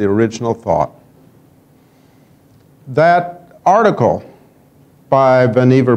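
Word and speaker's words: Vannevar: thought that article by vanever Bush I think it is pronounced vanever properly uh many of us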